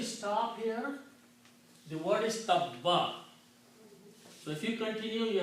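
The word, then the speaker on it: تَبَّ: When you stop here, the word is tabba. So if you continue, you have to pronounce Abi lahabim wa tabba. Sound the ba twice. If you stop, you still have to pronounce ba twice.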